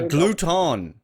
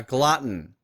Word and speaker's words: glutton: erotic i glutton a glutton oh that was my pronunciation come on valerie jesus you're nearly there you're nearly there i don't say a gluten that's that's a new one but a glutton okay that works that